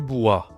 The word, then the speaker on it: bois: Alors, la famille du bois. La famille du bois. Alors, bois, c'est de W en français, hein. Bois. Donc, ça se dit comme ça, du bois.